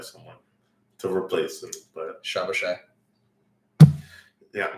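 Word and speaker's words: Szoboszlai: I actually think the Hungarian pronunciation is Shabashai, but don't quote me on it.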